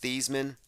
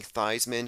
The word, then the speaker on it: Theismann: when it happened now his name is probably pronounced these men but I'm saying thighs men because it's very interesting